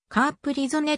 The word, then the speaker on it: Capri-Sonne: されているドイツ語ではカプリ損ではカープリゾねと発音するが日本におい